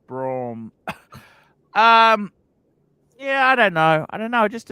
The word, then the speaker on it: Brougham: Brom. It's pronounced Brom.